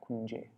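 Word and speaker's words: kuñje: if I mentioned this, but this N becomes a Y, or an I and a Y, if there's a vowel on either side. If there's no vowel on either side, then you pronounce it like manjari and like that, kunje.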